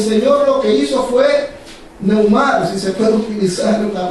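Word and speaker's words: pneuma: En el original griego, espíritu viene de un término conocido como neuma. Neuma. Se escribe P-N-E-U-M-A. Neuma.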